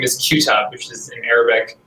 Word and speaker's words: Qutub: It's a little easier phonetically and sound-wise for people here. And our last name is Qutub, which is in Arabic Qutub. And we just kind of keep it easy for people and say Qutub because it's kind of how it looks when